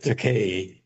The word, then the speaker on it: Takei: And so this book, it rhymes with decay, is about my closeted period of my life and my life after I come out of that closet.